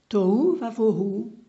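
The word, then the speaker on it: תֹהוּ וָבֹהוּ: Hu, vous avez le Vav avec un point à gauche du Vav pour dire que ça va se prononcer Hu, donc Tohu. Va, ici c'est le Vav de coordination pour dire Et. Vohu, Bet avec un point au-dessus du bet pour dire vo, hu, tohu vavohu.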